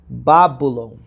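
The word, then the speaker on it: Βαβυλών: Já no grego, a pronúncia seria Babylon, que tem um significado etimológico portão de Deus com D minúsculo.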